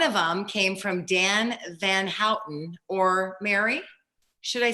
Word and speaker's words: Van Houten: You always call him Hooten.